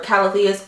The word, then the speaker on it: Calathea: Like, I'm in love with Calatheas or Calatheas. I just found out that the correct pronunciation for Calathea is Calathea, and I don't want to like offend anyone, but I'm still gonna say Calathea because Calathea, really?